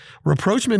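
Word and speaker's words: rapprochement: on today's show well reproachment is a three-syllable word spelled r-a-p-p-r-o-c-h-e-m-e-n-t and it means establishing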